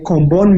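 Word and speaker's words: Comboni: Hospital in my Village can you spell that con what is it called comorn comor missionaries what's how do you spell that c o m b o n i oh Comon yeah named after Bishop koni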